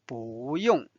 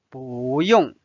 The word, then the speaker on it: 不用: Now let's learn 不用。不用。 Notice that it's pronounced as 不 because of what? Because this is a fourth tone.